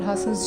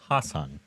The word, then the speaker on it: Haasan: That is some of the work from Kamal Haasan's journey spanning 61 years.